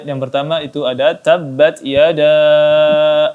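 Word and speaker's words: يَدَا: Yang kedua ada yada, ya, mad jaiz, ya, mad jaiz munfasil, maka dibaca 4 harakat, 5 atau 6 harakat, dibaca lebih panjang. Tabbat yada abi.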